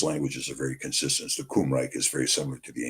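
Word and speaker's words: Cymry: Kumri or pronounced kumri and it comes from the kumri which is how the Welsh refer to themselves.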